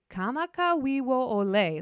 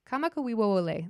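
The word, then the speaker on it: Kamakawiwoʻole: Kamakawiwo Ole. There we go. Kamakawiwo Ole.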